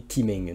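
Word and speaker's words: Qimeng: en fait ça ça ça s'écrit kimeng donc Q i m e n g V3 le kimeng V3 de chei attention c'est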